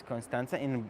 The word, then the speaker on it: Constanța: Oh, yeah, Constanța. In Romanian is Constanța. In Turkish is Kustens. I guess that's how you say it.